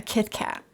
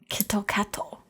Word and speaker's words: Kit Kat: So Kit Kat, they don't call it a Kit Kat. Mm-hmm. They call it Kitto Katto, because they don't have words just end in T.